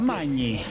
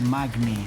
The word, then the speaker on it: Magni: Magni. Magni. But isn't manger to eat? Is mangiare. Okay, so close. Close. GN is ñ in Italian, Ñ. so Magni.